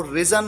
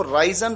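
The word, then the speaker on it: risen: यहां पर आपको ध्यान रखना है कि जो थर्ड फॉर्म है वो रिजन, उसको प्रोनाउंस किया जाता है रिजन। कई बार स्टूडेंट्स इसको राइजन प्रोनाउंस करते हैं, ये गलत है।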